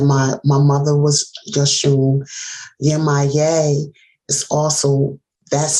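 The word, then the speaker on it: Yemaya: Yemaye is also, that's how you pronounce her name. That's the one woman with the fish. With the fish, the mermaid. So Yemaye.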